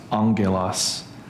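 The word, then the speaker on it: ἄγγελος: And when you have two gutturals next to each other, the first one turns into a new. And so it's pronounced angulos, which is why we have angel with this.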